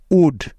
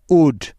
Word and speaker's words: would: যেমন ডি এর আগে এল সাইলেন্টের উদাহরণ। যেমন কুড, COULD, কুড। শুড, SHOULD, শুড। উড, WOULD, উড।